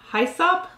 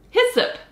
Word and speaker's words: hyssop: Hyssop. Hyssop. It's pronounced hyssop.